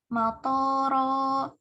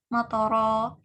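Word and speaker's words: مطرا: Contohnya di Quran Surah Al-A'raf ayat 84, saat kita membaca wa amtarna alaihim matara matara, ketika kita membacanya matara, jadi tonya jadi panjang, harusnya kan tonya pendek, matara.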